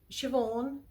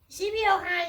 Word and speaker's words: Siobhan: Siobhan. Sibiohan, you're saying it wrong. Sibiohan, because Simon pronounces things as they're written.